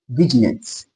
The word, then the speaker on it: vignette: How do I pronounce this? Vignette.